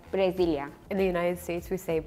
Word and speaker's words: Brasil: In Turkey, we pronounce it like Brasilia.